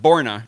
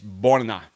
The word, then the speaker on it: Borna: You got to roll the R's, for example, with Coric. His first name is Borna Coric. It's not Borna, it's Borna Coric.